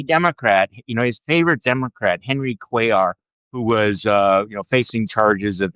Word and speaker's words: Cuellar: So then Cuellar, am I pronouncing his name right?